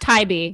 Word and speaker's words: Tybee: It's pronounced Tybee.